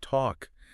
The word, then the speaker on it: talk: I mean, even a word like talk, that seems simple, but it has that silent L. Exactly. That L in talk that used to be pronounced.